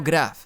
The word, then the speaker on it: grave: O mejor dicho, grave, como se pronuncia en francés.